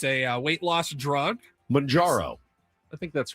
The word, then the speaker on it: Mounjaro: Mounjaro. It's M O U N, so like mountain.